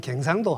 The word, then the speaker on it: 경상도: 경북대학교 경북대학교 경상도라는 말도 우리 지금 대구 사람들은 경상도하고 경제를 좀 길게 발음하죠. 경상도하고 경자를 길게 하는데 부산이나 경 마산으로 가면 갱상도 합니다. 상도상도 상도 어 모음도 애 발음으로 이렇게 갱 우리 이렇게 하고 소리도 낮아요.